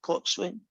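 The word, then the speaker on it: coxswain: rowing thing right and i guess you have to know what a cox win is you pronounce it clock swing yeah you know that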